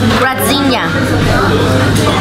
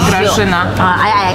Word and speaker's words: Grażyna: When there's a da above the z, it's a zh. Grażyna.